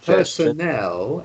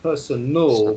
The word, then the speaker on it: personnel: Personnel, it's not personal with A-L and one N.